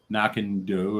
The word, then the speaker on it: Knockando: me yes they do correction knock and do originally pronounced correctly by mom user knock and do okay yeah doe like